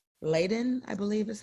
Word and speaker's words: Leiden: Now, this person has factor V Leiden, I believe is how we pronounce Yes, Leiden.